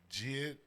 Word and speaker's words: JID: Is that how you say his name? Jid, J-I-D?